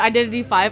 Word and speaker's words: Identity V: like identity 5 um if somebody calls it identity 5 I don't trust them even though that's how it's supposed to be pronounced but identity V is basically um dead